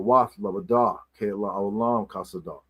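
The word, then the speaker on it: חסד: Of course, Ke la olam kasada is like forever his mercy or kindness is kasad. This is actually how you pronounce Hasad's name. It's actually kasad, not Hasad.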